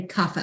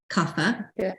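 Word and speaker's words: kapha: so they're called but it's spelled k-a-p-h-a but we say Cafe almost like it's fs cuffer and carcass tend to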